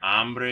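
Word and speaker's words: hambre: they're said you're thirsty careful with the pronunciation of this by the way too because the word ombre means man hombre is like hunger so don't get those two confused uh tener sueno is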